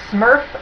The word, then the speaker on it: SMERF: he is talking about it's called the Smurf market and it's spelled s SMF it stands for social military educational religious and fraternal meeting groups these tend to be